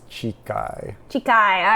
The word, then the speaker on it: Chikhai: Bardo I think it's I looked at the pronunciation it's chai chai I said it wrong in the beginning and